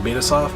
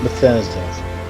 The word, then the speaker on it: Bethesda: Was it Betasoft? I'm pronouncing it wrong. Vista. Vista, thank you. Bethesda.